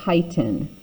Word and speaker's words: chitin: step on it so notice i'm saying chitin okay it's kind of like kite with an n on it if you were going to go fly a kite right that's the pronunciation